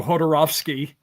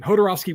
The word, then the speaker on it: Jodorowsky: Jodorowsky with a J, by the way. I'm just pronouncing it. I'm just assuming it's like an H sound, because even though the name itself sounds like it's Slavic, he's Hispanic or Latin or whatever, so it'd be Jodorowsky.